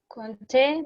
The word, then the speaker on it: compter: Compter, P is silent. Compter.